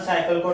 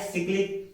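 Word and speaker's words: cyclic: तो हम ये क्या है, एक सिक्लिक प्रोसेस है, नॉट अ साइक्लिक, it's correct pronunciation is सिक्लिक। तो हमारे पास क्या है,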